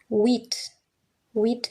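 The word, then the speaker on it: huit: If we have an H, it's usually silent. So we just say wheat. We don't even say wheat. You say wheat. It's like the H is silent.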